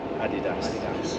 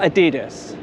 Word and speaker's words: Adidas: how is it supposed to be pronounced? Adidas. Not Adidas.